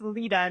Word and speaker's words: Leta: And I didn't do a very good job of introducing myself because my name's pronounced Leta, not Leta.